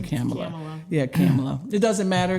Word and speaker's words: Kamala: Is it Kamala or Kamala? I heard her correct someone and say it rhymes with Pamela. So we all say Kamala, but it's really Kamala.